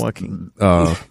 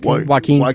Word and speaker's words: Joaquin: Yeah, definitely Joaquin.